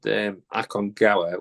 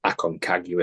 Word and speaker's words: Aconcagua: But I mean, when I did Aconcagua, which is the Spanish pronunciation, because I learned about it in Peru, I want to learn more about it. It's Aconcagua is the way British people, Irish people, well, the Western world calls it.